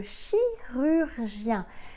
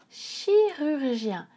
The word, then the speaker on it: chirurgien: très utile c'est le chirurgien ce mot est difficile à prononcer à cause du ch et des voyelles notamment du chu le chirurgien c'est ce docteur qui